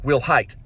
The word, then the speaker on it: Wilhite: said we'll have which sounds like will height and also another thing